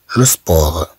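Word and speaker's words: le sport: انه فعل لنفسه سوءا ثم عندنا كلمات فيها سب سب مثلا لو سبور لو سبور لو سبور سب سب سبور لو سبور الرياضه جو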